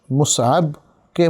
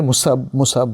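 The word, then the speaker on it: مصعب: কারণ বেশিরভাগ মানুষ মুসআবকে মুসাব বলে। প্রথমত নামটা হলো মুসআব, মিম সাদ আইন বা, মুসআব সাবুন থেকে এসছে। সাবুন মানে শক্ত বা কঠিন, সেখান থেকে মুসআব যেটাকে কঠিন করা হয়েছে, কঠিন প্রকৃতির কোনো ব্যক্তি, মুসআব।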